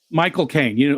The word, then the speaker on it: Michael Caine: Michael Caine.